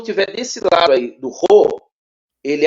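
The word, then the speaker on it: ῥῶ: Você não vai pronunciar o logo, você vai pronunciar ro, Ro. mais na garganta.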